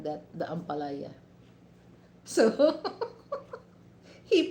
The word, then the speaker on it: ampalaya: Okay, Paranaque, and then and every time, because this is one of my favorite vegetable, the bitter gourd, or we call that ampalaya.